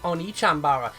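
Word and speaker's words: Onee Chanbara: original Japanese name One-Chanbara, they dropped one of the E's, so a lot of people pronounce it as One-Chanbara, but it's actually O-N-E-E, One Chanbara, and that's a play on words as it means big sister.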